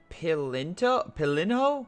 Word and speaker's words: Pilinho: Pilinho? Not Pilinto, there's no T.